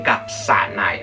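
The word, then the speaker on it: かさない: Kashanai, no se dicen kashanai, ¿vale? Se dicen kasanai, o sea, el si se convierte en un sa normal y corriente, ¿vale?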